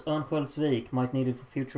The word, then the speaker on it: Örnsköldsvik: How do you pronounce Örnsköldsvik? Might need it for future reference. Okay, so the first O is an Ö. Ö. So it's Örnsköldsvik.